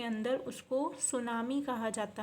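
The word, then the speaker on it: tsunami: है next refer सुनामी सुनामी की spelling क्या है thuan47 मिट्टी जो है वह साइलेंट होता है तो इसको कैरेट करेंगे सुनामी सुनामी A series of पोषण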